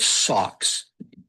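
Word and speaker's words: SOX: The Sarbain Oxley Act is often called socks. Take the S and the ox socks for short.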